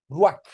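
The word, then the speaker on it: רוּחַ: porque es la que se usa en hebreo y se pronuncia como J pero también como K ru ruak y Cómo se traduce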